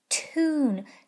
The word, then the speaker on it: tune: So I'll try it both ways. Yoon, yoon, yoon, tune. Let me try it with its nickname. Oon, oon, tune, tune. A musical tune. That sounds better.